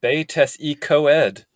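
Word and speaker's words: Betws-y-Coed: There's the town of Betusicoid, which the book wants you to pronounce as Betes y Coed.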